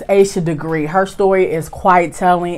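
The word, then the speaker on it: Asha Degree: I always get her name wrong. It's Aisha Degree.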